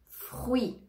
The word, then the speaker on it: fruit: vont se prononcer comme un y famille famille fruit fruit on ne prononce pas le thé à la fin fruit